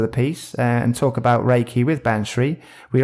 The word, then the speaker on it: Reiki: that'd be one of our questions how to pronounce it there's a little teaser preview there there's in there to show you it's Reiki there we go there's a spoiler for later